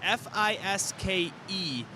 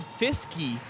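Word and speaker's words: Fiske: named Fisk, and it's F-I-S-K-E. And I asked the coach how you pronounce the name. He said Fisky. It's actually Fisk. The Fisky's just the nickname.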